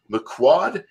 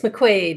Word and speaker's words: McQuaid: I've got a wonderful guest here today Carol Makua am i pronouncing that correctly Carol it's McQuaid you were very quick okay I apologize for